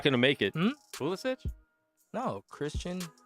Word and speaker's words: Pulisic: Pulisic? No, Christian Pulisic. Pulisic. Mm-mm. That's not how the commentators say it. I see in those types of names, it's always itch.